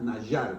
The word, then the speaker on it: Nadjar: Nadjar se pronuncia nayar porque eh la D y la J punt juntas, ¿verdad?